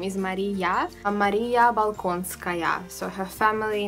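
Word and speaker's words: Болконская: And yeah, that's right, but her Russian pronunciation of the name is going to be Yelizaveta, and her surname is Balkonskaya.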